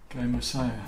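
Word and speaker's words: kaimosae: Dendroaspis jamesoni kamisu, or how do you pronounce that last bit? Kamisaya.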